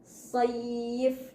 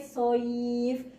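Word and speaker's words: سيف: Sayf dari kalau secara Latin SHO ketemunya Y. Sayf, bukan SHOYII. Jadi jangan sampai soif, jangan sampai ya-nya itu diberi harokat kasroh. Soif. Nah, tidak seperti itu ya. Ya-nya tetap harus sukun. Saif.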